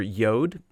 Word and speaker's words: Yod: In Hebrew, the letter that corresponds to the J sound in English is represented by the letter Yod, which is pronounced like the Y in yes.